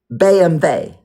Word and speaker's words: BMW: BMvey. BM V. BMW. Oh, it's BM. W is pronounced V.